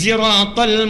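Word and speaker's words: الصراط: Ibnu Katsir yang punya tafsir Ibnu Katsir itu bacanya pakai riwayatnya lain, sinnya pakai zai. Ihdinas siratal mustaqim, pakai zai.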